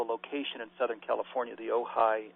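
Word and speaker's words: Ojai: you spell the location in southern California the ohigh how do you spell that Community it's o j AI OJ AI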